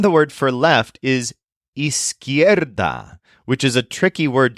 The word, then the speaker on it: izquierda: And then the word for left is izquierda, which is a tricky word to learn. It's spelled Izquierda.